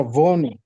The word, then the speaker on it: wohne: ভোনে, হ্যাঁ Hone ভোনে, ভো, ভ, ভয়ের মতো okay করে উচ্চারণ করতে হবে, ভোনে, ইস Hone ভোনে, বলেন আমার সাথে, ভোনে, ich wohne ভোনে, ভো, ভোনে, হ্যাঁ, আচ্ছা wohne হ্যাঁ, ইয়া, genau, ভোনে